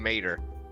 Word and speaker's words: Mater: I'm like Mater, like Tomater without the t. I'm Mater.